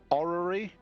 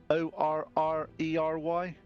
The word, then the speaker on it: orrery: that this center piece is, and I can't pronounce this, so let me see if it's a orrery, O-R-R-E-R-Y.